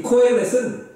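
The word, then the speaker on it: קהלת: 전도자라는 말은 히브리어로는 코헬렛이라고 발음하는데 이 코헬렛은 사람들이 모인 자리에서 가르치는 선생님 같은 그러한 존재를 말합니다.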